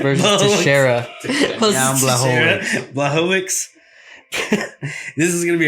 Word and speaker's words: Blachowicz: Blahowicz. How do you say? Blachowicz versus Teixeira. Down Blachowicz.